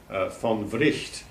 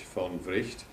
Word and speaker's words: von Wright: most famous Finnish philosopher, von Wright. He is pronounced in Finnish, not right, but Wright, because he was a Swedish speaker, and that's the way his name was pronounced in Swedish, von Wright.